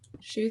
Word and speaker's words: chou: It's shoe.